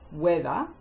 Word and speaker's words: whether: Now, can you remember the 3 other common words with a silent H? While, whether, as in whether or not you know the answer, and whine, when you are complaining.